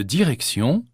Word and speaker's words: direction: Le T de direction se prononce S. La direction, la station.